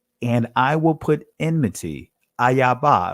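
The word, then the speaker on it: איבה: It says here in verse 15, and I will put enmity, ayaba. I'm saying it from the Israeli, or not the Israeli, but the ancient Hebrew pronunciation. And I will put enmity, ayaba, between thee and the woman, and between thy seed and her seed.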